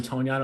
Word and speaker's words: Tonyan: Oh, is it Tonyan? Oh, come on. These guys in the chat just found out the real way to say it like 3 days ago.